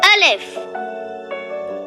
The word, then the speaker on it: alif: I'm Al if alif alif alif alif you can spell Al if in English as a l l i f Al if it sounds like a a for apple a a a how to